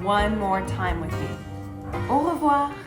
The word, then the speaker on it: au revoir: Au revoir. And sometimes you put the words together and you say it a little bit faster and it sounds like this. Au revoir.